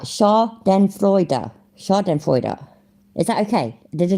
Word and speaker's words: Schadenfreude: So, Schadenfreude. Oh, fuck, I said it wrong. Nimrod, you really... Right, Schadenfreude.